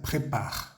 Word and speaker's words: préparent: plural es ent preparent se escribe y se pronuncia prepar prepar listo una gran cena